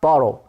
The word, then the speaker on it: borrow: How do you pronounce borrow? Borrow 단어는 어떻게 발음하지? pronounce. 어떻게 발음하지? 했더니 하고 발음이 같아. Borrow 이렇게 읽어야 돼. tomorrow. borrow 이런 식으로 말이야.